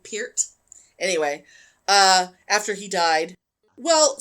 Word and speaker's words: Peart: I think that's the way you're supposed to pronounce his name, Peart.